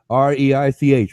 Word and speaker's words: Reich: r e i c re i c h right but it's R they say R here in America but I pronounce it Reich like the Germans pronounce it no why do you